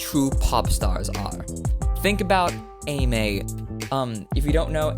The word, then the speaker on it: Emei: It's spelled E M, sorry, E M E I, but it is pronounced Ame.